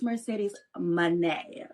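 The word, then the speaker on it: Mercedes Moné: She's a future uh and James, make sure you say it right. It's Mercedes money.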